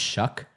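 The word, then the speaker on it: Shough: when they took Tyler Shuck. Did you know how that that's how you pronounce his name? Even though it has a G in it, it's pronounced shuck. Like when you shuck corn.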